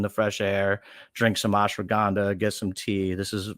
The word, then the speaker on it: ashwagandha: Yeah, it's ashwagandha.